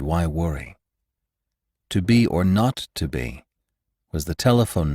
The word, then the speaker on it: 0: The 0 in the telephone number he pronounced not. The number was 2BR not 2B.